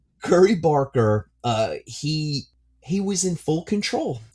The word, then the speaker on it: Curry Barker: For Obsession, it was a roller coaster ride that, by the way, I pronounced Curry Barker as Cubby Barker last episode.